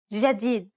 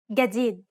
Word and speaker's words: جديد: In Egyptian Arabic, this letter is pronounced like a regular English G, as in game. Let's listen to the difference one more time. In Standard, جديد and in Egyptian. جديد.